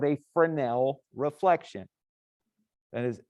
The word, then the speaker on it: Fresnel: And that angle that you look at it and how it changes is called a Fresnel reflection. That is F-R-E-S-N-E-L. It's French, the S is silent.